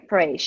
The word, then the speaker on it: perish: 25 people perished, perished, Perished. perished. You In just an keep pronouncing it, perish, and I'm doubting.